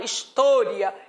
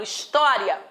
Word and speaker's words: história: Da mesma forma, história, o timbre é aberto. Eu não falo história, eu falo história.